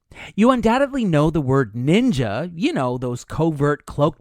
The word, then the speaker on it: ninja: But since much of Japanese was adapted from Chinese, ninja ended up being the older, more Chinese pronunciation. The Japanese way of reading the same glyphs sounded out the word as shinobi, actually a shortened version